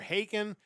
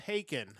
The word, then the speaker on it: Haken: They are Haken, and their new album is Live Forms, An Evening with Haken.